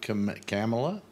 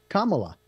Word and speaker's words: Kamala: election stuff and everything are you excited about camela or camela yeah camela really you can't pronounce it either why is that so hard a name to pronounce why is it so hard Kamala like M but with a K mamala Kamala